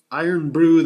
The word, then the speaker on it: Irn Bru: that brogue scottish spirit and call it well iron brew the way it's spelled here so here's to you scotland now